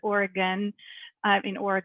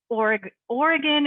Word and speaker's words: Oregon: A lot of people pronounce it Willamette and Oregon. It's Oregon and Willamette River.